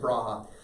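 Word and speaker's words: Brahe: bra depending on how you pronounce it I pronounce it brave but apparently it's Braha uh type of Raja Taco bread whatever his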